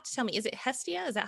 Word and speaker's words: Hestia: And you have to tell me, is it Hestia? Is that how you say it? Yeah, so basically, Hestia is the goddess of home, the ancient goddess of home, the Greek goddess.